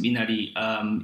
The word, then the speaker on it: Minari: Minari, and how Koreans would pronounce it, Minari.